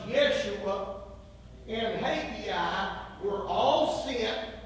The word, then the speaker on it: Yeshua: I'm sure that's removable Joshua better pronounced Yeshua and hagiah were all